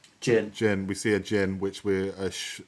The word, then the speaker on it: Djinn: Well, at the end of the trailer, we see, is it pronounced Djinn or Jin? Jin.